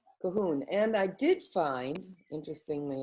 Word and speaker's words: Cuchulainn: But he's pronounced Cuchulainn. No, that's not right. Cahoon.